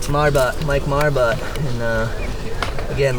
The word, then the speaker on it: Marbut: Marbut. Marbut.